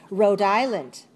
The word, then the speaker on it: Rhode Island: Rhode Island. What's the silent letter here? What's a silent letter in this word? Island has a silent S. Don't pronounce the S. Silent. Rhode Island.